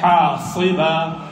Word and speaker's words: حَاصِبًا: أَنْ يُرْسِلَ عَلَيْكُمْ حَاصِبًا حَاصِبًا حَاصِبًا حَاصِبًا حَاصِبًا Remember these seven letters, حروف المستعلية they are called. They are always pronounced with the base of the tongue elevated.